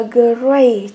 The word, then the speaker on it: great: Câu C chúng ta đọc là great. Như vậy âm này là âm A. A, great.